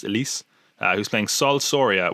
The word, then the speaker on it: Alice: elise braga uh i i know it's it says alice apparently is pronounced elise uh who's playing sol